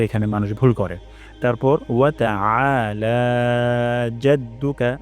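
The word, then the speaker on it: جَدُّكَ: মানুষ ভুল করে তারপর জাদ্দুকা এখানে আইন গলার মাঝখান থেকে উচ্চারণ হবে আ উচ্চারণ করবো না হামজা উচ্চারণ করবো না তাহলে এখানে হামজা হয়ে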